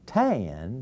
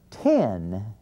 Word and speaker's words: ten: got a problem with, which he pronounces tan because he's an oaky. And so, we're going to have to teach that boy that this word is pronounced ten, and it's spelled T-E-N.